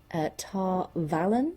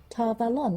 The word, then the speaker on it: Tar Valon: But I did notice that he said Tar Valon. Not Tar Valon. Tar Valon, right? Like Avalon. Tar Valon.